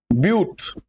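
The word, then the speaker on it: but-: এবার সিফর হচ্ছে তোমার বিউট আর ইংলিশে এটা বিউটি লেখা হচ্ছে বাট না কিন্তু চারটে কার্বন মানে আমার বিউট হবে। এখানে ইংলিশে উচ্চারণটা বাট হবে না। কিন্তু বিউটি উচ্চারণ করতে হবে।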